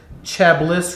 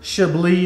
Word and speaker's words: Chablis: a little bit of this Chablis right here, or Chablis if you wanna say it correctly.